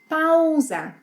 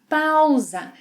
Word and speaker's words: pausa: Pausa. Pausa. In Portuguese, the AU sequence has 2 sounds. Au, au. It's similar to the sounds we have in cow.